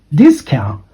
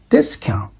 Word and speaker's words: discount: should be pronounced as discount not discount because this is um the appropriate pronunciation for the noun okay okay the the first syllable goes up and the second syllable goes down okay discount and of revision and